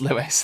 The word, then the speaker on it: Lewis: love it time heist lewis not louis he's just put that at the end my name is pronounced lewis thanks for clarifying i